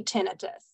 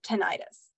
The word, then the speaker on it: tinnitus: hand if you say tinnitus well guess what I can't see any of you and it's actually great because everyone if you raised your hand is correct the pronunciation is either tinnitus or tinnitus so we can go